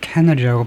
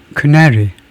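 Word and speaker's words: canary: 우선 엉터리로 캐너리라고 발음을 한번 해 보겠습니다. 캔리. 그러니까 그것이 캔 종류다 이거고. 어 크네리 크네리라고 나오네요. 크네리가 맞네요. 크리 두 번째 실레블에 음전 엑센트가 있네요.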